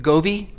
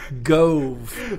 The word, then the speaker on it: Gove: do you spell your last name is it GOI go pronouncing it people do that go it's Gove so we're sitting here at guess where back